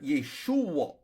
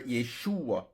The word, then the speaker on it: Yeshua: this guy's Hebrew name it's pronounced either yesu or Yeshua depending on dialect Jesus probably pronounced his